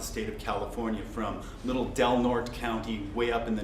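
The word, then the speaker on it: Del Norte: from across the state of California from Little delnort County way up in the north and it is delort that's how they pronounce it delort County North to Alpine way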